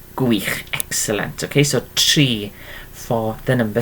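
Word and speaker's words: tri: Okay, so think in pronunciation as if we're talking about a tree. Okay, it's exactly the same sound there, okay, but it's spelled differently. So tree is 3, and there we are. So tree is the number 3, and then we pronounce it like the word tree.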